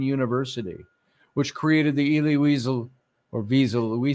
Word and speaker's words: Wiesel: humanities at Boston University which created the Elie weasel or VISA we said weasel we pronounce the W everywhere I've looked it was pronounced as a v a soft v a weasel uh he was uh he created the Boston